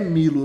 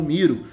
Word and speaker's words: Milo: maioria das dublagens internacionais Porém na sonoridade das dublagens do anime tanto no Brasil quanto no Japão o nome é pronunciado como Miro então escreve-se milo e pode ler Miro está tudo certo Miro